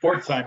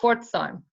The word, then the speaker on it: Pforzheim: here, Rob, because I don't know how to pronounce this. It's a university in Germany. Yeah, that's Pforzheim University. Pforzheim.